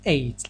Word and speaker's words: ate: Americans pronounce it ate, like number 8.